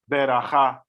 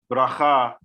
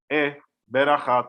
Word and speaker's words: beracha: So we have words like beracha, tefillah, tefillin, as opposed to the Hebrew pronunciation tefillah, bracha, tefillin. So the Shewa has this function of a vowel, which is like an e, beracha, tefillah.